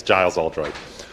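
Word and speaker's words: Giles Oldroyd: I didn't know I had the hardest name to pronounce. It's Giles Aldroyd.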